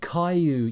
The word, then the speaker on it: Caillou: Caillou that's it yeah Callie you Caillou I think it's pronounced call you right anyway let's go